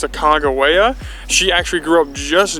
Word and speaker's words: Sacagawea: Another really neat fact about this area is that we always called her Sacagawea, but we've heard it's pronounced Sacagawea.